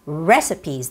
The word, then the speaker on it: recipe: the word recipe and the recipe it's a three syllable word and when you're reading this word it's recipes the stress goes on the first syllable so it's recipes or recipe ok so I'll read